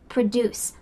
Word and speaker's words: produce: Here the emphasis is at the end. Produce. I produce a video. This is different than the produce section.